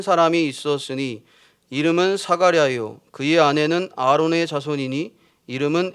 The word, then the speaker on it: 사가랴: 그러니까 히브리어로의 이름이 스가랴고 헬라어의 발음의 표현의 이름이 사가랴입니다. 같은 이름이라는 거죠. 사가랴는 제사장의 아비야의 반열의 가문이었고 엘리사벳은 아론 가문의 자손입니다.